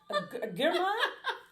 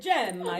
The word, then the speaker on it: Gemma: And my teachers would sit there and go, Gemma, Girma, Gemma, and I go, just call me. So everything legitimate is Gemma. Are you telling me that they really could not They pronounce didn't. They couldn't Gemma? get it. They couldn't get it. They would go Gemma. And I said, Gemma, it's a gem, because it means jewel.